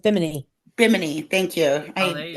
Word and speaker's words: Bimini: Bimini.